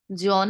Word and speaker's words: জন: জন না বলে বলবো জোন। মন, বোন, জোন। আবার বলছি দেখুন, এটা কি? একাক্ষর শব্দ, শেষে আছে দন্ত ন। শেষে দন্ত ন থাকলে শুরুতে আমরা একটি ওকার দিয়ে উচ্চারণ করব।